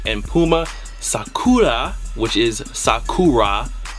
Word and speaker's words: Sakura: Puma Sakura, which is Sakura. I'm saying it how you should properly say it, Sakura, because in Japanese, the R's are pronounced as L's.